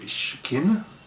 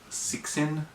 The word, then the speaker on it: Cixin: Three-Body Problem by Liu Shixin. That is not how you pronounce. We'll write it on the screen. Cixin? I don't know. It's an X is a sh sound.